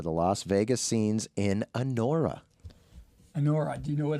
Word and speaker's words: Anora: I didn't see the movie, but I heard the Oscar nominations, and I hope I'm saying it right. Yeah, Anora. I believe that's how it's pronounced.